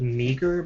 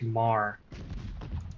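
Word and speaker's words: Meagher: Uh, this looks like it's spelled meager, but apparently it's uh pronounced mar.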